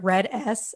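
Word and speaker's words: RED-S: disorder eating a little bit and do you pronounce it red s is that how it's said yeah okay i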